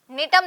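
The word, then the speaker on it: Gnetum: नीटम gymnosperm की। Number three पे है बेटा नीट। इसमें जी साइलेंट रहता है नीटम।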